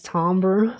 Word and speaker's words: timbre: Does it not simply like, because like this interval is one note, but then like not pronounced like the wood, it is timbre, but why would they spell it like that?